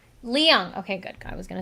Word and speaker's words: Leung: How do you pronounce Telly Telly? Leung. Leung.